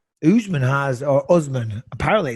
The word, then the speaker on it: Usman: Well, to be fair, and you are correct in everything you just said, Usman has, or Usman, apparently it's pronounced Usman, but he's got Nigeria.